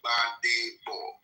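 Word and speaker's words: Gbadebo: My name is Jbadebo. Badebo. Just 3 syllables. Badebo. 3 syllables there. Badebo. Badebo. It means in meaning bring back the crown. Yes. Bring back the crown. The G is silent.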